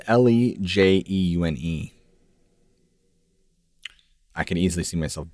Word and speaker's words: Lejeune: It's Lejeune.